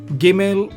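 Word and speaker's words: גימל: v sound that's be giml is g sound girl here dalith is dad hat.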